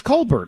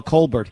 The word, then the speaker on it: Colbert: full of themselves where they change the pronunciation colar right he's Colbert all of his all of his family in South Carolina are a Colbert he's he's cbear he wants to be French I mean it's it's